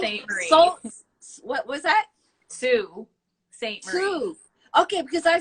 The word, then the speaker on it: Sault Ste. Marie: To this day, Heather, I cannot pronounce it properly. Sault Ste. Marie. What was that? Sault Ste. Marie. Sault. Okay, because I said salt, like everybody says because that.